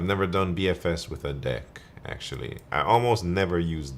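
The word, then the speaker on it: deque: like it should be DQ and I think for sure when I first read it I was like yeah the DQ but everywhere I looked people just pronounce it deck so I just switched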